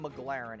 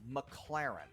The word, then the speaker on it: McLaren: times in a row it's not McLaren it's McLaren okay so that's how